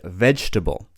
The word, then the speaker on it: vegetable: Both of these words just have 3 syllables. We say comfortable, comfortable, comfortable, and vegetable, vegetable.